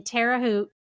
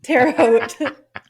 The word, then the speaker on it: Terre Haute: So Jimmy played the violin in the Benjamin Franklin Elementary School Orchestra in Terre Haute. Did I do it wrong again? You did. Terre Haute. Terre Haute? Yeah, like Hote.